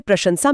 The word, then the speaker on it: प्रशंसा: जैसे प्रशंसा में पहला श तालव्य है और आखिरी स दंत्य।